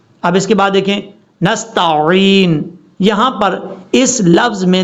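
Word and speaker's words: نستعين: نے کلیئر کرنا ہے۔ نستعین، عین کا پتہ چلے، عین، نستعین، یہ ہے اس کا پڑھنے کا صحیح طریقہ اور تلفظ۔ اب اس کے بعد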